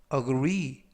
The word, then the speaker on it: agree: 되겠습니다 이번 표현은 agree agree agree라고 발음하시면 되겠고요 강세는 뒷부분에 있는 알파벳 2의 강세가 있습니다 품사는 동사 뜻은 동의하다라는